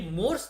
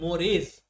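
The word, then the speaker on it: mores: ये मोर्स नहीं है, इसका प्रोनाउंसिएशन होता है मोरेज, है ना, मोरेज एंड टैबूस।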